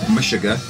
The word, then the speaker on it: Meshuggah: This is an album called Destroy, Erase, Improve by, I think it's pronounced Meshuggah.